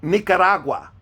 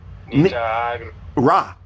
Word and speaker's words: Nicaragua: No, how do you pronounce the country with the N, like the end of? Nicaragua. Say Nica. Nicaragua. Nicaragua. You know what agua is? Water. Yes. So this is ragua.